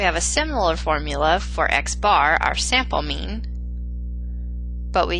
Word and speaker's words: x-bar: The sample arithmetic mean, pronounced x bar, is computed using sample data, and this is a statistic.